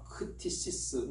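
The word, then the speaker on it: κτίσις: 이 피조물이라고 하는 말은 헬라어로 크티시스 이렇게 발음은 하지만 그건 중요한 건 아니겠습니다.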